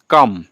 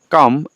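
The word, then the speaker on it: calm: গ্রামীণ রাস্তা আর হয় কাম এল উচ্চারণ হবে না কাম and quite কাম কাম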